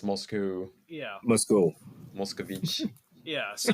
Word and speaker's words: Moscow: own personal GTA server so it's Moscow not Moscow oh yeah I've only ever heard it pronounced Moscow so yeah okay that's that's very common weal of you yeah like Americans love saying Moscow and then like everywhere else moscu yeah MOS mosovich yeah